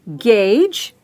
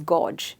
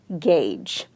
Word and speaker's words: gauge: So convert it into an easy spelling of it, and this G turns into the J sound, the J sound. So the moment you say gauge and you remember the